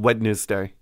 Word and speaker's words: Wednesday: a hard d in wednesday you're a monster yeah it's there it is there but you're still a monster it's there when is there ever a silent d in wednesday name one other word